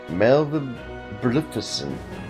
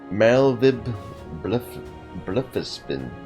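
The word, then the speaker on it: Merlwyb Bloefhiswyn: Melvib Blufisvin. Blufisvin. So the W is pronounced like a double V? Okay. Melvib Blufisvin.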